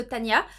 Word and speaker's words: Tanja: Alors ça s'écrit Tanja, mais je pense que ça se dit Tania puisque ça se déroule en Allemagne. Et Ja, ça se dit Ya, il me semble en allemand, si mes cours d'allemand de l'époque sont encore bons.